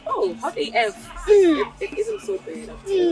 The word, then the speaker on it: Hot AF: It's pronounced Hot AF.